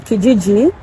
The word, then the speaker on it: Kijiji: Canada I think you want to get on KGG it's spelled k-i-g-i-g-i or Facebook Marketplace those are many